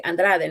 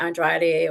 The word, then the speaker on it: Andrade: Yeah, I get the opportunity to tell them how to say it, with a Spanish, the correct way, Andrade, not Andrade or Andrade or whatever.